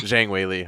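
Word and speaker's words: 张伟丽: And Zhang Weili, it's like, did I just say her name wrong? Oh my god, am I Zhang Weili? Zhang Weili.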